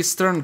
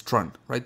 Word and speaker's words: Strun: I think we got the, the actual pronunciation is Strun, right? Strun.